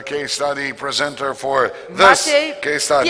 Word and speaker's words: Maciej: Maciej. What is the perfect pronunciation of your name? Maciej.